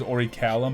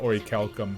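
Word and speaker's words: orichalcum: just the name's familiar i always pronounce wrong i say a bunch of final fantasies i thought it was always already callum but ori calcum because i can't read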